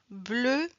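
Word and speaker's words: bleue: Bleu. Absolutely. Absolument. Parce que féminin, on ajoute la lettre E mais on ne le prononce pas.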